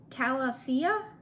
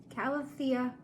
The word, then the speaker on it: calathea: one i got was comes the pronunciation struggle calafia concena calathea concina and that's really pretty so